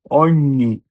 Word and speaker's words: ogni: spegnere, SPE, SPE, GNE, NIE, RE, RE, spegnere, ogni, OGNI, ogni, ognuno, OGNUNO, ognuno. যখন এসএচই এর পরে ই অথবা এ থাকে তখন উচ্চারণ হবে তালিবর্ষ।